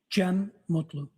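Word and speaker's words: Cem Mutlu: It's uh CM. Last name M U TLU. I also spell it uh with a G. GM. And could you tell us your name, sir? Jen Mutlu.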